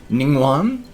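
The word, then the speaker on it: Ningguang: The one name is spelled Mingguang. That one I didn't even want to try at the time, but it's pronounced more Ningguan.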